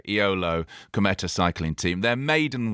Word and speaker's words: Eolo: eolo where is it how do you pronounce the team because the renewed is it low okay you don't say e-o-l-o okay iolo cometa cycling team their